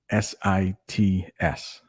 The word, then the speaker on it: Massachusetts: Or I'm going to spell it how it's pronounced. Massachusetts. Massachewsits. Come on. Everybody can say that, right? Chew sits. You chew your food, you sit in the chair. Massachusetts. It's not that hard when you break it down.